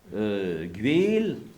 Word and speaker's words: Guézel: Donc, qui se prononce Guél.